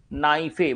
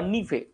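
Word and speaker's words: NiFe: যে কারণে এই যে স্তরটি একে বলা হয় নাইফে বা নিফে উচ্চারণ যেমনই করা হোক না কেন নাইফে বা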